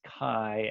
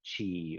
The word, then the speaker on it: chi: that the x is the greek letter chi that in the english language is pronounced as kai and not chi or chai rather than trying to